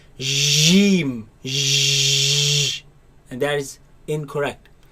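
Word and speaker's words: جيم: It is a solid letter. The makhraj of it completely closes. So j, j, jeem. Jeem. And it is incorrect to pronounce it as geem with a g sound.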